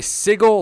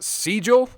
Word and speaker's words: sigil: hotel these new permanent i used to say sigil like a hick apparently it's siegel i just going to